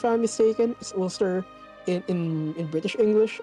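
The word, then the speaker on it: Ulster: But but because here um I think this country's name is pronounced O. It's mistaken. is olster in in in British English or in English it's Olster.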